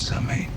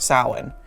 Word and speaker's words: Samhain: Samhain, and that's how it's pronounced, it's not pronounced. Samhain. It's pronounced Samhain.